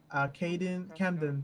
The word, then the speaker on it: Camden: Camden Prescott.